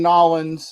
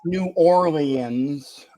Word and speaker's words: New Orleans: It's going to be, first off, winning in Nolans, and that is the correct pronunciation. It's not New Orleans. Okay, it's Nolans, baby.